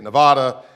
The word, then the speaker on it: Nevada: in the back because here on in the East we say Nevada he said it's Nevada so I need to get that right um I and I